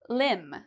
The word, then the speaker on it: limb: at for MB pronunciation, limb. So your limbs are your arms and your legs. Okay, so arms and legs are the same thing as your limbs. Now, do we pronounce the B here?